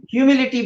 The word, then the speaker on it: humility: the integrity, O, open-mindedness, and H, humility we are taking. H is silent here.